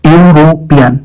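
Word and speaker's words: European: यूरोपियन का उच्चारण होता है यूरोपियन, यानी यू यू वाई ओ you sound से शुरू होता है, और यू एक कॉन्सोनेंट साउंड है, वावल नहीं, इसलिए आन नहीं ए का प्रयोग होगा।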